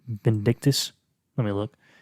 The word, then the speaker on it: Vindican: How do you fucking pronounce his name? Vindictus? Let me look. Vindican.